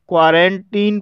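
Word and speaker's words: quarantine: क्वारंटीन, क्वारंटीन शब्द में आई का उच्चारण आई ना होकर के ई हुआ है, इसलिए इसे क्वारंटीन पढ़ा जाता है।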